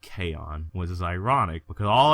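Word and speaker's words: K-On: anime I ever watched was an anime called Kon which is ironic because all anime I like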